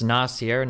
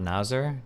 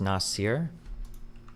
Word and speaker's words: Nasser: You know, it's Nasier, not Nazer Destiny. It's Nasir.